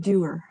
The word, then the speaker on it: Dewar: a whiskey drinker, you'd probably have heard the name because there's a Dewar's Scotch whiskey.